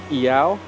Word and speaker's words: ʻĪao: Yao. Meow without the M.